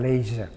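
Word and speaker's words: Liège: Lalu habis dibuang ke sana, dipindah lagi di suatu benteng dekat Leyze. Di Leyze ya, Z. G itu dibaca Z seperti Gianyar, orang Prancis bacanya Zianyar.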